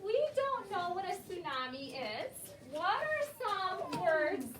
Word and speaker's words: tsunami: sound it out yeah you would try to say that t but that t is silent which never ever happens